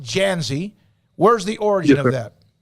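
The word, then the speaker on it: Dzansi: the origin of your last name is d-z-a-n-s-i pronounced Jazzy where's the origin of that so my dad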